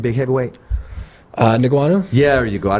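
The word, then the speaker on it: Ngannou: So to go into MMA, How do you it pronounce wouldn't- Francis' last name? Who? Francis' last name, big heavyweight. Niguanu?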